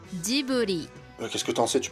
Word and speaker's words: Ghibli: Normalement, on prononce comme ça. Ghibli.